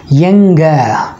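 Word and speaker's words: எங்க: ठीक है, तो कहाँ को तमिल में हम कैसे बोलते हैं, यंग। ठीक है, यंग। आप फिर से प्रोनाउंस कीजिएगा यंग, ENGA, यंग।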